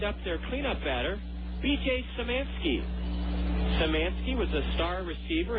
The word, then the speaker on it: Szymanski: Szymanski. S-Z, the Z is silent, Y-M-A-N-S-K-I.